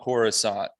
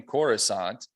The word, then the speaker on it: Coruscant: He came up with the name Coruscant, which is actually also an English word, not pronounced that way, that means glittering.